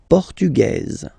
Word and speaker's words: portugais: Masculine, portugais, you don't pronounce the S. Feminine form, portugaise, you pronounce this z sound, okay?